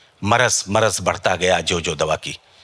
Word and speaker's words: مرض: تو لفظ ہے, لوگ کہتے ہیں مرض, تو مرض ہے تو اس کا صحیح تلفظ مرض بڑھتا گیا جو دوا کی مرض.